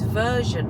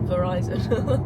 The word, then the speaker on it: Verizon: it and then another one is version I think that's how you pronounce Is it? Oh, Verizon. Verizon.